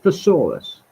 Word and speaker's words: thesaurus: It's pronounced thesaurus, like it's some kind of intelligent dinosaur.